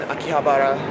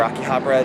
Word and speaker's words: Akihabara: I'm in Akihabara, or Akihabara, depending on how it's pronounced, in Tokyo.